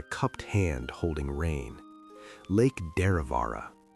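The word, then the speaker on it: Derravaragh: Lake Deravara. Say it slowly. Let the syllables roll like water over smooth rock. Draavara.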